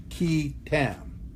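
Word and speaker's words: qui tam: but this is the way it's pronounced it's pronounced key Tam like V Jam what is that well it's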